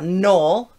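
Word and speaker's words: knoll: undid the scrolls then we have a null that's a small rounded hill okay or a mound and look at that it's got a silent k we'll talk about the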